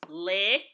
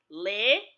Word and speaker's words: L: The next Abịdịị is Le. This Abịdịị is not pronounced the same way as in the English alphabet, L. It is pronounced as in the letters L-I, Le, in the English word lily.